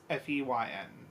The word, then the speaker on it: Foehn: Spelled Foehn, but pronounced Feyn, which I'm assuming is pronounced feign.